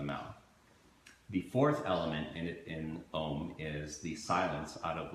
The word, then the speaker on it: Om: is, there's this word Om. It's called the four-syllable word. It shows up in Hinduism and Buddhism. It is called the sound of the universe. It's comprised of A, U, M, and Ah starts at